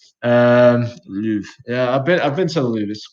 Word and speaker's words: Louvre: Is that how you pronounce it? Yeah, Louvre.